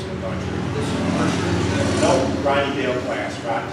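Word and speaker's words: Mercier: As a matter of fact, I think I ran a search on George Mercer, and it's spelled M-E-R-C-I-E-R, George Mercer.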